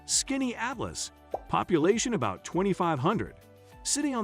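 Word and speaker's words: Skaneateles: Number five brings us to Scanyads, pronounced Skinny Atlas.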